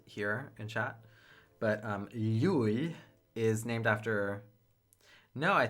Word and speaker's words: Llull: But that LH makes a y sound. And that y sound is present in the name of one of the streets here in Barcelona called Llull. So it's Llull.